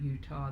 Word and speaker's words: Eutaw: It's a little bit different Utah than the state of Utah.